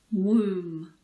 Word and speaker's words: womb: Womb. Yes, all of these words end in the sound m.